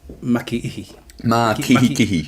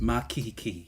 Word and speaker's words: Makikihi: So it's Makikihi. Makikihi. Yeah. Which I actually think is easier to pronounce because it's just kihi twice. Makikihi.